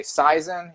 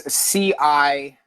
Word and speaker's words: Cizin: So, and his name you can pronounce a number of ways. You can say Saizen, you can say Kizen, you can say Apuch is another name, or Apuach, or Yum Sumil. That's backwards. It's Cizin. Okay.